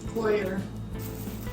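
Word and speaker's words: coir: it's a texti fiber how do you see it cor cor or in American englisher quer I almost feel like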